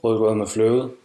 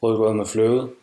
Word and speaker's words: rødgrød med fløde: This is the soft D sound.